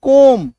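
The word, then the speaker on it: comb: लगा हो, ठीक है, बी के पहले अगर आपको एम दिख जाए, ठीक है, तो ऐसे शब्दों में हम लोग बी का उच्चारण नहीं करेंगे, पढ़ेंगे ही नहीं, काट दो इसको।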